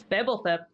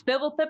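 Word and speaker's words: Fblthp: Who is Fibblethip? Fibblethip or Fibbleth? Let's ask the board. That's Fibblethip. It's Fibblethip the Lost.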